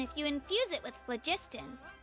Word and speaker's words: phlogiston: Good things happen if you infuse it with phlogiston. Phlogiston or phlogiston. Okay, so soft G. Phlogiston.